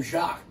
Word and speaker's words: Jacques: The name Jacques. First 3 letters you pronounce. J-A-C, Jacques. Q-U-E-S. 4 letters you don't pronounce.